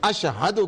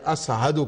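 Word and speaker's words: أشهد: وہ ٹھیک نہیں تھا، مخرج ان کا شین کے بجائے سین نکلا کرتا تھا، یعنی اشہدو کے بجائے اسہدو کہا کرتے تھے۔ ائمہ طاہرین نے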